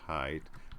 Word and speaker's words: Haidt: by Jonathan Haidt, is how you say it, Haidt, published in 2012. The Righteous Mind: Why People Are Divided by Politics and Religion. Righteous Mind: Why Good People Are Divided by Politics and Religion. And Haidt was he's a social psychologist.